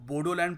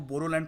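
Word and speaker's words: Boroland: यह बता दूं कि आसाम में जो बोडो ट्राइब के लोग हैं वो बोडोलैंड प्रोनाउंस नहीं करते वो बोरोलैंड प्रोनाउंस करते हैं बी ओ आर ओ और खुद को बोडो भी नहीं कहते बोरो कहते हैं बट मेलैंड इंडिया में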